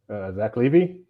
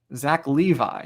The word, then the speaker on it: Zach Levi: Zach Levy? Zach Levi, yes, that is correct.